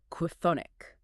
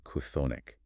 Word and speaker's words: chthonic: cluster that we bypassed, look at the word chthonic. Oh, man, chthonic. C-H-T-H-O-N-I-C, relating to the underworld or the realm of Hades. Try pronouncing a K sound, an H aspiration, and